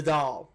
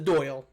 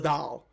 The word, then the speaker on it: Dáil: The Dáil, Simon. Not the Doyle. The Dáil. I love Simon, but it's pronounced the Dáil na hÉireann.